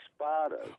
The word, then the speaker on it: Spada: area weatherfield weatherfield see now you pronounce my name Spa but we're actually spot okay yeah weatherfield but